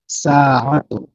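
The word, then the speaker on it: ساعة: তারপরে হচ্ছে সাআতুন। সাআতুন, এখানে আলিফ আলাদা, আইন আলাদা। হ্যাঁ, সিনের সাথে আলিফের একটা লম্বা টান হবে, আর আইন হচ্ছে হলফ থেকে উচ্চারণ হয় যে জায়গা থেকে।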